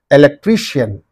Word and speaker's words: electrician: Electrician. Okay. I-A-N is in this syllable and in this syllable. That's why these two are gone. What is the syllable preceding the suffix means? Tree. So you say electrician.